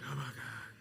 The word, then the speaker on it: Habakkuk: You got to do it more like Habakkuk. The H book.